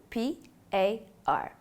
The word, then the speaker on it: PAR: refer to by the acronym p a r pronounced par this will include the